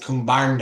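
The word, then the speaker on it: kumbhāṇḍa: Like something will be spelled Kumbanda, Kumbanda, but then under the D, there's a special dot and it'll mean Kumbarnda. So you pronounce it Kumbarnda.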